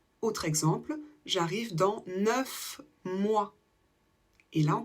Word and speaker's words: neuf: un V donc on dira neu exemple j'ai 9 ans où on va le prononcer en V autre exemple j'arrive dans 9 mois et là on prononce un f 10